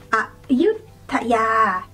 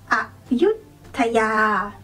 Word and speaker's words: Ayutthaya: So start off with go low, and then when you say the second syllable, yut, go high. Ayut, Ayut, Ayutthaya, Ayutthaya. And the last one is Krabi, Krabi.